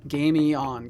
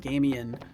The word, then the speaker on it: Gamion: Gamion. Gotcha, okay. Good job. I hope you enjoyed that water. Because I know I've been like kind of lazily pronouncing it Gamian. I need to stop it.